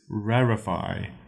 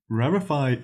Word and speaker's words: rarefy: It's not rarefy, even though it looks like it's spelled like it would be sounded as rarefy. It just is. It's just pronounced rarefy. I'm not sure why, but it's pronounced rarefy, not rarefy.